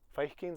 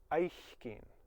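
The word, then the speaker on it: fhaicinn: Feichkeen's at the end of the phrase. We lenite it if possible. Gets the H, which changes the sound. It's not Feichkeen anymore, it's Eichkeen. FH is silent.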